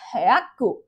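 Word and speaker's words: ひゃく: the sound, and it needs to be spoken in one beat. For example, cabbage is known as kyabetsu, kyabetsu, kyabetsu, kyabetsu. And 100 is spelled as hyaku, hyaku, hyaku. You can see the pronunciation, the beat that over here matters.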